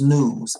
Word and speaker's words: nous: Nupu is found in the American English Dictionary and in philosophy as news, pronounced news, N-O-O-S.